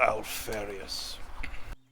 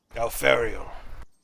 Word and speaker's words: Alfariel: If you kill Alfarius... Actually, I think I just got the name wrong. Alfariel.